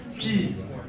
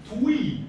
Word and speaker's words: Twi: So the way that's spelled is like this. And a lot of people will think you would say it like Tui, but you don't. So the way to do this is that what this letter is there for is to tell you to round your lips.